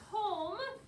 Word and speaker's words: comb: sure that you can realize that comb is but it spelled not have the b does not say anything it's a ghost it's silent same with prom it's prom with a silent or a ghost b so we have two